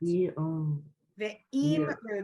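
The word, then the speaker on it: ve'imru: Ve'im ru. There's no yud there. So it's, if you take just the vav is a syllable. So we say ve, the next 2 letters, im, ru. Right?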